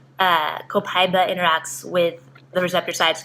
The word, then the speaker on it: copaiba: It's actually, a lot of people are pronouncing it copaiba. Right. But I like copaiba.